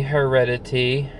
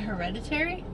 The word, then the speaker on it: Hereditary: So we just got out of the movie Heredity. Not an easy one to pronounce. Oh, is that Hereditary?